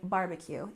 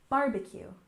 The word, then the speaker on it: barbecue: barbecue shortened to BBQ once in a while you might hear a native speaker say BBQ but most of the time you'll hear us say barbecue even when it's spelled this way and we stress the first syllable barbecue barbecue and this is grilled